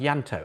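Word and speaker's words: Ianto: Uh, last one is a Welsh name pronounced Yanto.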